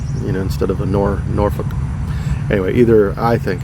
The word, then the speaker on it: Norfolk: a city like that in virginia that everybody mispronounces norfolk not nor folk it's norfolk yes nor and the word you